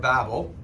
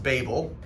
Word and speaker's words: Babel: so the Tower of Babel sometimes it's pronounced Babel I think Babel is probably the better pronunciation because of babbling and that works pretty well when this story is told